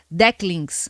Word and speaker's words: Decklings: Começando com arte de fã na internet, Lucas é o artista do jogo independente Decklings, aprendi a pronúncia direitinho, e acabou de lançar uma demo.